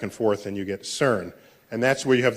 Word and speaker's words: CERN: of the CERN collaboration so CERN is how you pronounce the word which I think in